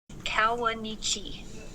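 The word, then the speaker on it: Kawuneeche: national park and asked what do you say kawanichi valley and kawanichi means coyote in arapaho one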